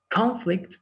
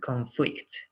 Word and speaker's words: conflict: The first one is the stress is in the first syllable, right? Conflict. And the second one, the stress is in the second syllable, conflict.